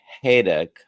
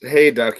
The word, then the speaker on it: Hayduk: And today we have Haydock. Is that Did I pronounce that correctly? Hey, duck. Pretty close. It's Hey, duck. Yeah, it's like hay and duck without the C.